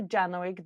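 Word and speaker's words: Janowczyk: I know, because I was pronouncing it in Polish, because it's a Polish last name, so it hurts me to pronounce it in English.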